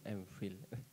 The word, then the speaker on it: MPhil: Ya Allah, bacanya fil ya, MPhil.